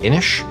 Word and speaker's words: Inis: same guy who made inish which i now know is pronounced inish and not innis like i originally thought many people have informed